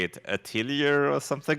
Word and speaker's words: atelier: I'm like, yeah, I looked it up. It's Atelier. French is weird. French is Atelier.